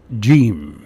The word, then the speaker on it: جيم: Let's go to the letter number 5, جيم.